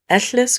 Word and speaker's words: Ellis: Next up, we have of K Aberhen, pronounced with the Welsh double L sound. Eless grew up a ward in a castle after being found in a forest as a very young child.